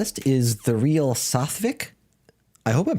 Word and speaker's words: Sathvik: My name is Satvik. You pronounced it right.